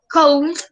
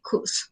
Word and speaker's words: could: No se dice could, no se dice could, se dice could. ¿Listo? Es como si la O y la U sonaran como una sola U y la L no tuviera sonido. ¿Listo?